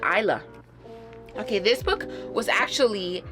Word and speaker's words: Isla: I always call her Isla because I don't know, I forget to pronounce the S, but Isla.